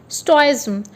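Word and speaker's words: stoicism: तो इसका प्रोनाउंसिएशन आप देखिए दोस्तों, STOH, STOIZM, स्टोइज्म।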